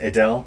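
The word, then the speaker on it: Aidale: few up hey Dell is it we pronounced Adele a-i-d-a-l-e from her guides okay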